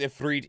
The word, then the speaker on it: Ifrit: I did they I don't I'm pretty sure it was pronounced if freed even in Final Fantasy 14 but um and